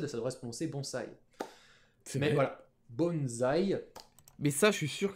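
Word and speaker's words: 盆栽: pourquoi en france en français on prend ça bonsaï parce que quand on a un ace coincé entre une consonne voyelle on le prononce comme dans comptes sonne d'ailleurs un nom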